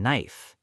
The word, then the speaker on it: knife: English has many silent letters. Like the K in knife.